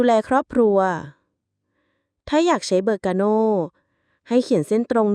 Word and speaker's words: Berkano: ถึง ความ ถูก ต้อง ตัว อักษร ที่ 18 เบอร์กาโน รุ่น นี้ ชื่อ ว่า เบอร์กาโน อ่าน ว่า เบอร์